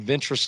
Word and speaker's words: Ventress: The band's name derives from Ventruss, Louisiana. Now, Ventruss, Louisiana is spelled Ventress.